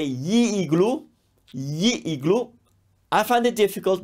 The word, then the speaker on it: gli: strong sound and that's ye it looks funny it's pronounced g-l-i but that GLI is a sound that comes from the throat it's yay I hate this sound